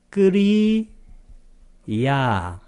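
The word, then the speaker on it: kiriyā: 작용만 하는 작용만 할 때는 끼리야도 있고 또 뭐가 있나요? 끄리 야 뒤를 길게 발음한다 그랬습니다. 두 가지 편이 있습니다.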